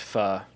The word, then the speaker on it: Foes: It's pronounced pho.